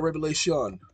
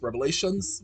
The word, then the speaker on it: Revelation: the way down to Revelation I used to pronounce it with an S Revelations with an S and an older gentleman corrected me said it's not Revelations is revelation and I was like